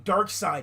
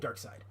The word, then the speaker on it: Darkseid: I mean, Darkseid is the villain in this movie, not the other guy.